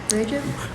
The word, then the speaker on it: Recep: Soon he discovered that the ringleader, one of his own officials, Recep Pasha. Murad had already made is that how you say it? Recep?